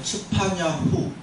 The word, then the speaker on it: 츠파냐후: 원래 스바냐 이게 아니라 츠파냐후, 츠파냐회 이게 원래 이름입니다.